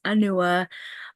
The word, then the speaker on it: Anua: So, my name is Anua. It's pronounced Anua.